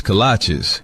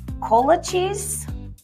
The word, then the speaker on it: kolache: What's a colache? Oh, cola cheese? Colache? Kolaches? Kolache? Like the shoes? No, that can't be right. It's kolache, but it don't matter